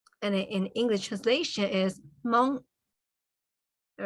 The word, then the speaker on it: Hmong: And in English translation is Hmong. All right? Because as you know, in English, the H is silent, right?